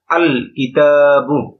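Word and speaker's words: الكتاب: আল কিতাবু। এখানে লামটা উচ্চারিত হচ্ছে। লামটা এখানে উচ্চারিত হচ্ছে।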